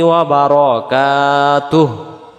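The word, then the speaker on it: وبركاته: ওহমা ওরাহমাতুল্লাহ যেন না হয় হবে ওয়ার রহমাতুল্লাহি ওয়াবারাকাতুহ আমরা এটাকে বলে ফেলিার বারকাতুবারকাতু পড়লে বার জবর বার হবে উচ্চারণ হবে ওয়াবার ওয়াবার যেমন 10 11 12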